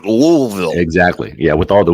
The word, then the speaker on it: Louisville: not Louisville Louisville yeah it's in the back of your throat louville exactly yeah with all